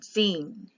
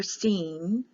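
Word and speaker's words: שׂין: an s i sin scene the I is pronounced like an e so a Sheen or scene so when you go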